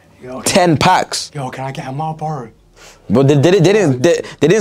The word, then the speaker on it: Marlboro: You know, Marlboro, the cigarette company. I feel like you're not pronouncing it right. Marlboro. Is it? It's Marlboro. Marlboro.